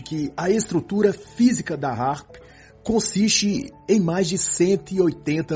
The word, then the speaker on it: HAARP: o título do livro A palavra harp e Harpa no inglês americano possuem pronúncias similares assim quando se fala